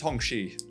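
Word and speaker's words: Hongqi: uh the names of the Hong Quay and St like that so pronounced hongi there you go you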